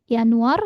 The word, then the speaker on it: Januar: Oktober November Desember ya Jadi yang EE berbeda pelafalannya itu Yanuar ya karena J ya kita sudah belajar ya sebelumnya huruf j dibacanya Yod ya maka jadinya y Yanuar ya Mer a Um laut